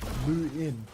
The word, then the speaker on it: Luan: By the way, Luan for Ireland is pronounced Lu in.